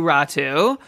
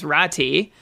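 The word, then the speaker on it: Räty: Okay, well, it's a little confusing because, yeah, you pronounce his name Atu Ratu in Finland, but the last time, like in the official NHL pronunciation guide, it is, like, it's spelled out or pronounced out as Ratti, which means that Art Atu has asked, like mentioned to North American Meat, like how do you want your name pronounced? That's what he's chosen.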